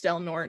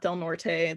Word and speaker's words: Del Norte: Yes, it's Del Norte, not Del Norte. That is just how they say it.